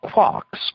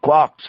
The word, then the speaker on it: quark: The word quark is supposed to be pronounced like quart, but with a K at the end instead of a T. It is usually pronounced to rhyme with lark.